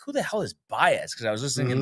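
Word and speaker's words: Pages: I always thought it was Pegasus or you know the Andy. Do you know how to say it? I It's PZ.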